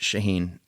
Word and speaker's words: Chahine: Chahine, pronounced Shaheen.